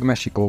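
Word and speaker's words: México: indián törzs után kapta és eredetileg mesiko volt a helyes kiejtése mivel az x-es írásmód megmaradt ezért ma már a legtöbb nyelven mexikónak mondják ez alon az egyik kivétel a spanyol melyben mechikónak ejtik az ország nevét és mivel ez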